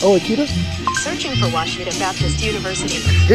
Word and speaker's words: Ouachita: Back in Texas, everybody pronounces it Wichita, but really, it's Washita. Washita. Washita. How would you pronounce it? Washita. It's Washita Baptist University. Get it right. It's Washita, people.